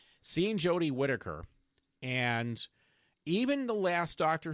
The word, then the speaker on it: Whittaker: slice of heaven so seeing Jodie would it widow take her off would it take her there I go I said it wrong seeing Jodie Whittaker and even the last doctor who God loved